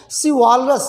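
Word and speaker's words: chivalrous: देखिए सी एच क भी होता है, सी एच च भी होता है, लेकिन यहाँ पर जो सी एच है इसका हम प्रोनाउंसिएशन उच्चारण स की तरह करते हैं। सिवॉलरस, सिवॉलरस मीन्स होता है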